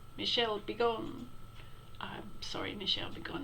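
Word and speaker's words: Michel Bégon: here sound dominique this his name was Michelle had begun which and she sounds like an instruction or a curse really Michelle be gone I'm sorry Michelle be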